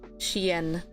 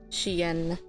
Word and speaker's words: chien: Like, there's like a Y sound? Yeah. Chien. Chien. Chia. But they dropped the last sound.